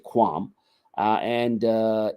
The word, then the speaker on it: QAM: uh quadrature amplitude modulation we pronounce it quam uh and uh it's